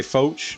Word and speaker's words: Foch: pack to finally oath I'm gonna say foch because I think that's how it's pronounced in the French I might be wrong and Zooey Zoo Fox is a tank foach has some of the